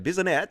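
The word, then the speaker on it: Bissonnette: His Twitter account was among a handful of far-right accounts frequented by Alexander Bisonette. That's how you pronounce it.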